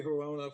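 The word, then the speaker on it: Hirono: I can't pronounce her last name. Hirano? It's Macy Hirona from Hawaii.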